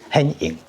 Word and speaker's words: 顯應: Manifest the Patriarch I happened to meet our director-general and asked him for advice Our grandfather is called Pronounced in Taiwanese hián-ìn hián-ìn Tsóo-su Manifest the Patriarch Actually, we are